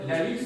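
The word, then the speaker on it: Halys: Alors, rien à voir avec l'Alice près de chez nous, à Tournai, donc l'Alice, ça s'écrit comme ça.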